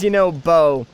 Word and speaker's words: Yunobo: For whatever reason, I always want to say bro whenever I like have to say his name, but it is Yunobo.